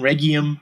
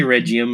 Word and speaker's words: Regium: no it's uh it's it's basically regium the G is like a g yeah but but but I still say regim and I still people say regim as long as you know who it is and as long as you know where it's coming from I don't care how you pronounce it but I had